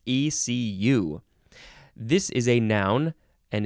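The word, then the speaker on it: écu: stuff FL FL FL the second form of AQ is not pronounced AQ at all it is literally pronounced ECU this is a noun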